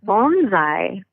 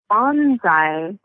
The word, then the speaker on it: bonsai: So we're getting the last syllable correct. We're messing up on the first one. Yeah. Okay, bonsai.